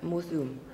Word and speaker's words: Museum: But Gene can't read Ab-Tai-Baek Ab-Tai-Bak / Um, it's pronounced Mu-Sum, right? Yes, moo-zoom in German, moo-zoom-ab-tai-baek.